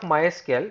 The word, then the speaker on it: MySQL: to the history of mysql generally mysql is officially pronounced as my sql so generally it is